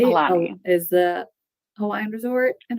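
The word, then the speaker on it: Aulani: Alani.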